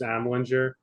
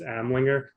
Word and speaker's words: Amlinger: It's funny because so many people ask me how to pronounce my last name. Half my family says Amlinger, the other half says Amlinger.